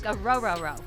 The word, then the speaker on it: Orhorhoro: to botch this, Ruke Orhorhoro. Did I get it? Said it right. Ooh. Like row your boat. Exactly. There we go. I was stressing about that one. Three rows.